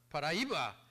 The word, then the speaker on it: Paraíba: Am I pronouncing that? Paraíba.